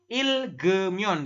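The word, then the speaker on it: 읽으면: Jadi ilgemyon dibacanya seperti itu ya. Ilgemyon seperti itu.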